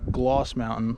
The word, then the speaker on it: Gloss Mountain: And on one of the original maps of this place, it was labeled Glass Mountain, and he pronounced it as Gloss Mountain with his eastern accent, either from Boston or Britain.